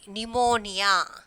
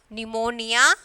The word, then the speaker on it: pneumonia: So here P is there, but we are not pronouncing that P. Pneumonia.